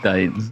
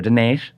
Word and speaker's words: Dines: It's Dines.